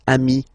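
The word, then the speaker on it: amis: Remember, if you want to put the plural form, then you just add this final s here. Okay? But then technically, you pronounce it the same way. So singular form amii plural form you add this s but it's amii as well.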